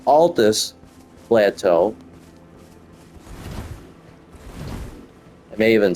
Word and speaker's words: Altus Plateau: and here we are Atlas Plateau or Altus I don't know why I'm calling it Atlas Altus Plateau I may even spelled